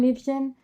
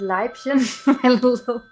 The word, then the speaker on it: Liebchen: One time I was watching a Wagner opera on TV and dude was supposed to sing Ich komme Liebchen, except he pronounced it Leibchen.